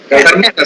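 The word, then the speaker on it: कर्मठाः: No, not ta. Ta. Karmatas. See, below that there is a dot, no? You have to pronounce it as karmatas.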